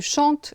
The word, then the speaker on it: chantes: observez je chante tu chantes il elle chante il elle chante la prononciation est identique ce n'est que l'écrit qui est modifié qui change je chante tu chantes